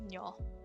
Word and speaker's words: nyo: This looks like niño, but it's pronounced nyo. Nyo is you or your, and this is the plural version of you or your.